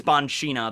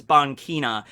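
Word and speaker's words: Banchina: who is his wife i used to say it's bonshina the way it's spelled but it's bonkina was uh usopp's mother and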